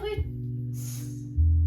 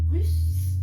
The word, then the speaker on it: Ruth: Je m'appelle Ruth. Russe. Ruth. Ça s'écrit TH, mais ça se dit Ruth.